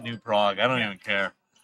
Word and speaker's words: New Prague: So, fun thing about some Minnesota cities, they're named after European cities, but we pronounce them differently, and I think it's ridiculous. We have something called a new prey. Yes, I pronounce it new Prague.